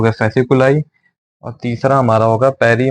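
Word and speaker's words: fasciculi: structure बना रहे और इस स्ट्रक्चर को बोलेंगे फैस कुलाई इसकी स्पेलिंग है एफ ए एस आई सी य डबल एल आई फसक यह सारी मसल सा मिलक स्ट्रक्चर बनाया इसको बोला जाएगा फैस कुलाई ये हमारा दूसरा हो गया मसल में काउंटिंग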